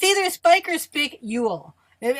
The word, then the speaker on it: spicule: No, it's spy cool. No, are you sure? Because I looked it up, and it says you pronounce it like pick with an S in front of it.